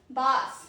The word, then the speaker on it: bass: Then is bus pronunciation one is sorry bas rhymes as mass.